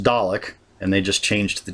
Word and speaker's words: Dalek: I'm saying that because it's pronounced Dalek, and they just changed the D to a K, so I'm saying colic instead of Kalic.